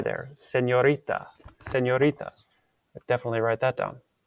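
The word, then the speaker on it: señorita: called an in Spanish you have to pretend there's like an invisible letter y after it so you would not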